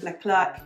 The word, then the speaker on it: Leclerc: we frequent here so I will say it with an English accent not the French pronunciation so I have little Le clerk net open into my shape and all of them